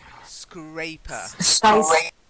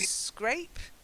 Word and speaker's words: scrape: double p sky squabble scraper skyscrapers better you're getting there you scrape rhymes with ape long a sound so can you say